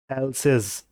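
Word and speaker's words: else's: और इसकी प्रोनाउंसिएशन क्या आएगी इसे भी देखो, इसे हम बोलते हैं एल्सिस। फिर से बोलो, प्रोनाउंशिएट करो इसे मेरे साथ में, एल्सिस बोलते हैं इसको, ये बात ध्यान रखना।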